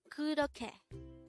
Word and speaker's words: 그렇게: 그렇게. This is pronounced as a three-syllable word. The first syllable is 그, second syllable is 러, and the third syllable is 게.